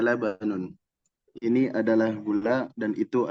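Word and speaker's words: لبن: Lam, ba sama nun berarti labanun. Nah, jadi pas dicoba untuk teks gundulnya bisa insya Allah.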